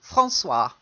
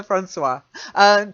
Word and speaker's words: François: Then the next one is just a French name. François. François. Oh, okay. I think I misheard it. Francois. Yeah, Francois. Probably the English equivalent would be Francis. Okay, but in French it's Francois.